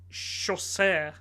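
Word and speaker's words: Chaucer: stories are associated with Jeffrey Sher that's how you say his name is it the Cambridge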